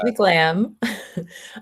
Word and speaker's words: McLamb: So I only said your company's name wrong. I got your name right. Yes, yes. I'm McLain.